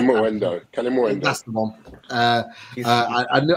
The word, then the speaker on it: Kalimuendo: Kalimuendo, if I'm pronouncing that right. Kalimuendo.